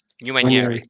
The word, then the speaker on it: Nwaneri: How do you pronounce this guy's name from Arsenal? What, Nwaneri? Nwaneri, yeah.